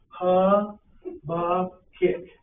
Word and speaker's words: Habakkuk: Ha, ba, kick. Ha, ba, kick. That's the way that it's pronounced.